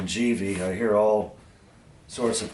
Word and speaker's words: Givi: This is an 80-liter Givi, and they've told me that's the pronunciation, Givi.